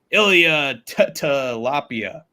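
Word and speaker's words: Ilia Topuria: Ilya Tilapia. Yes, that is how you pronounce it.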